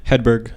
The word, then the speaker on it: Hedberg: Hedberg. Hedberg? Yeah. No G in there. I think there is a G, but you don't pronounce it.